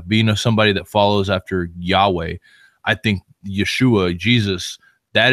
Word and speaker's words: Yahweh: and when I say Yahweh a lot of people don't know God's real name God's God has a name and his name is Yahweh or Y some people pronounce it yahovah he once once you